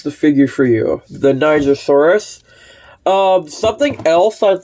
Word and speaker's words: Nigersaurus: not this is pronounced Niger Soros now don't get me canceled it's named after the country in which it was found if it's got a